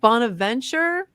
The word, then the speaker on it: Bonaventure: Bonaventure University.